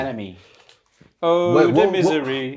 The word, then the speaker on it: NME: Is that how you say it? NME, yeah. Yeah. Enemy.